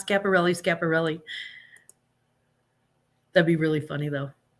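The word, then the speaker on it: Schiaparelli: Ronnie says woohoo scaparelli no and it's not spelled like that but yeah that's fine that's funny it's not scaparelli's capparelli that'd be really funny though I actually uh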